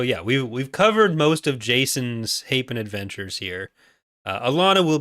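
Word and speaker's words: Jacen: So we've covered a lot of Jaken. That's what that was. 12-year-old me popping out, not knowing how to pronounce Jason properly.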